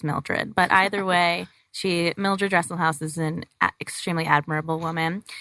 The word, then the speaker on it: Dresselhaus: How do you pronounce it? Dresselhaus?